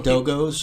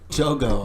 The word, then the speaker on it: Dogo: So Dogos or whatever they're called. Dago? Dogo. I think it's pronounced Dogo.